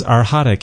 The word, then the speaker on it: arhatic: the name of the yoga you said it's arhatic yoga and our hadik it's uh it's a it's a tricky word but it's spelled a-r-h-a-t-i-c and our hot is a word